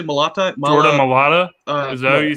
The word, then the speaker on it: Mailata: I'm going to say Jordan Malatai.